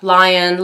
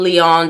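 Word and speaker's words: Lyon: 800,000 number nine is lion Park lion Leon depending how you want to pronounce it most people say lion Park thank you for padding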